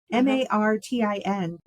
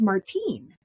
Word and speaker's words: Martin: it was always pronounced Martin because it was um it was from, you know, folks who had come over from Mexico and Spanish speakers.